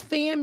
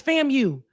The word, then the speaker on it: FAMU: She can't even pronounce fam you. Wait a minute. What you mean? She g me what you mean? She keeps saying fam. She She separates when we say fam you. It's fam you.